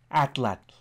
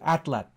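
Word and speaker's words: atlatl: the thrusting tool and called it an outlet outlet now I pronounced it again for you at lab the name outlet derives from the Nahuatl language of central Mexico where it was applied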